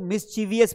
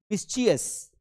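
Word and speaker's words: mischievous: वी आई वी बनेगा लेकिन नहीं। इसको आपको पढ़ना है मिसियस। क्या पढ़ना है? मिसियस। ध्यान रखना। मिस मिसवियस। गलत पढ़ रहे हो तो मिसवियस पढ़ना है।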